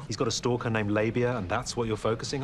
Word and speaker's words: Labia: It's not Labia or Labia. No, Labia.